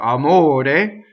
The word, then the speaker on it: amore: So let's talk about amore, the word for love. It has a closed O. It rhymes with fiore in this case.